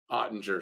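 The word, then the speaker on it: Oettinger: Suzuki shot right on Edinger was a save ottinger excuse me keep saying it wrong yes Grimes they did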